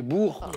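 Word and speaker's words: Boers: oui pardon allez-y oui la prononciation est étrange çacrit B O e r s et on dit les Bours la guerre des Bours mais c'est exactement ça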